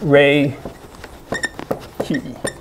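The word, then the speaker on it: Reiki: what is what is raiki huh it is what does Rik key mean r key r e i k i right e i k i it's pronounced Ray key right okay um so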